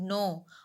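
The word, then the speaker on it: know: कसे बोलते we should नो हाउ टू से नो विदाउट हर्टिंग अदर्स हमना मालूम कते सु बात का मीनिंग है यहां पर नाउ कते स्पेलिंग करेक्ट के एन ओ डबलू के साइलेंट है नेक्स्ट क्वेश्चन क्वेश्चन नंबर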